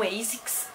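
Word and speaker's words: ASICS: Eu pesquisei para falar bem certinho para vocês o nome e daí assim eu sempre falava a six, mas o correto de pronunciar é ASIX, tá?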